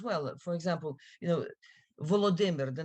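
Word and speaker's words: Volodymyr: for example you know volodimber the name of the Ukrainian president his first name is volodimer the Russian variant of that name is the Vladimir I've heard them I've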